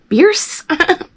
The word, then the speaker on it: Bierce: One being the Bierce family, which is actually pronounced Bierce.